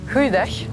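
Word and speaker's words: goeiedag: - Cô phát âm thế nào? - Heuj dag. "Houie dach" ? Không được rồi!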